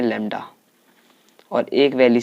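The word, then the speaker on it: lambda: इसका सिंबल होता है लैम्डा, इसको हम प्रोनाउंस करते हैं लैम्डा।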